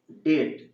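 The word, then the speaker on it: debt: 25 নম্বর cleared ডেট, এর ডিইবিটি এর উচ্চারণ হচ্ছে ডেট, মানে হচ্ছে ঋণ, ঋণটা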